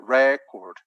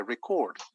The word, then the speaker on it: record: time so you say record but if you're going to register something then we change this a sound for an e sound on the stress goes in the final syllable so you say record you don't say tape